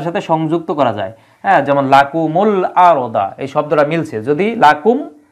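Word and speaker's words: لَكُمُ الْأَرْضَ: বিহীন আলিফ আছে এজন্য উচ্চারণ মিলানোর জন্য এই জায়গায় জজমের পরিবর্তে পেশ দেওয়া হয়েছে যাতে করে উচ্চারণটা মিলে উচ্চারণটা পরেরটার সাথে সংযুক্ত করা যায় যেমন লাকুমুল আরদা এই শব্দটা মিলছে যদি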